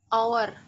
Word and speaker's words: hour: Hour. Hour kan? Sebenarnya hour itu nggak ada, H-nya nggak ada, O-nya nggak ada, ya kan? Diganti A.